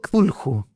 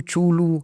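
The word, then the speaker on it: Cthulhu: este famoso la llamada, yo le digo tulju, otros lo dicen tulu, chulu, catulu, da lo mismo porque es un nombre extraterrestre. Así que todos los nombres son aceptados.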